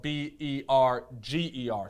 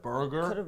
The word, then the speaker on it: Berger: Now, this Berger is spelled B-E-R-G-E-R, so it's like Berger. Instead of burger, it's Berger.